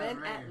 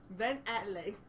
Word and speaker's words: Affleck: laughing because how you said it's like Ben man. Affleck. Why you say it like that? Ben Affleck.